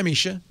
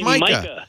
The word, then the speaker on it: Micah: Hi, Misha. Oh, I'm sorry. It's Micah.